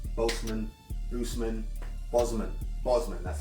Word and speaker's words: Bosman: that you pronounce the name Boltzmann lucemon Boozman Bosman that's how you pronounce it Boltzmann was when ruling shut up